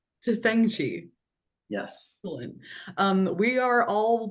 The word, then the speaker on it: Tefenkgi: Is that how you pronounce it, Alex? It's Tefenkgi. Tefenkgi.